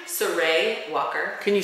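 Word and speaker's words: Sarai: should go how do you say her name sarey Walker can you spell it sa Rai Oh wal okay it's like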